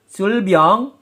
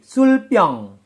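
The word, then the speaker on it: 술병: Sedangkan sulbyong penulisannya, bacim real bertemu dengan konsonan biep berubah menjadi sang biep. Sekali lagi, bacim real bertemu dengan konsonan biep berubah menjadi sang biep atau konsonan ganda atau double konsonan. Sulbyong penulisannya, pelafalannya menjadi sulpyong. Sulbyong menjadi sulpyong.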